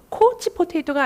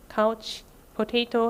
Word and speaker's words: couch potato: 코치 포테이토가 아니고요. 발음은 couch potato입니다. 아오 발음이에요.